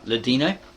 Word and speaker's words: Ladino: Ladino, not Latino, it's got here Ladino, Arabic, Portuguese, and modern Greek.